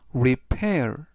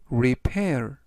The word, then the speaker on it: repair: 뜻이 되겠습니다 이번 단어는 repair repair repair이라고 발음하시면 되겠고요 이때의 강세는 알파벳 p 뒤에 있는 a 강세가 있어서 repair이라고 발음하시면 좋겠습니다 품사는